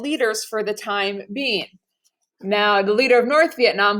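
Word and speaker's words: Ngô: Now, the guy we support in the democracy is named No Dien Diem, so the G is silent.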